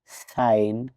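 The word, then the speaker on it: sign: many Times সাইলেন্ট থাকে সাইলেন্ট letter জি জি এর পরে এন লেটার থাকলে সাধারণত জি সাইলেন্ট যখন জি এর পরে এন থাকে তখন জি উচ্চারিত হয় না উদাহরণ সাইন ডিজাইন পরেইন রেইন ক্যাম্পেইন এই শব্দগুলোতে জি এর পরে এন লেটার আছে তাই জি লেটার দিয়ে উজ্য থাকবে মানে উচ্চারণ হবে না বা সাইলেন্ট থাকবে জি এর পরে এইচ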